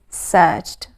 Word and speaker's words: searched: not end in t it sounds like t but does not end in t the right spelling is edie searched but the pronunciation is searched didn't found it's a